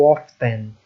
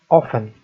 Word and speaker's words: often: Observem que o often ele tem uma letra T, mas nós não vamos pronunciá-los. Você não vai ler how often. A pronúncia how often.